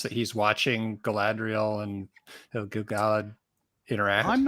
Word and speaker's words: Gil-galad: So many people pronounce it Gilgalad, which I always find really irritating because it's like it's in the meter of the poem, in the Gilgalad poem. You can tell that it's not Gilgalad.